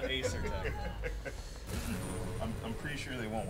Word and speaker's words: Asetek: Not Asetek, Asetek.